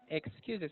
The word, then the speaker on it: excuses: uh, excuses, the stress on the second syllable, and then talking here because you want to know the man which is your brother's talking with, right?